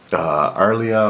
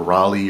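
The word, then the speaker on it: R'lyeh: So this is Arlia or Raleigh or Rayleigh or Rayla, however you want to pronounce it. I pronounce it Arlia or Arlay.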